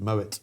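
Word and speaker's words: Moët: The Moet the say there's no silent t cuz I think it's German.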